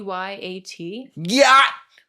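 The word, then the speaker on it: gyat: So exactly how you pronounced it. Yat.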